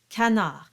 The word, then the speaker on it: canard: And canard, the N is followed by a vowel. And so that's your clear sign that it will not be a nasalized sound at the beginning. It will simply be canard.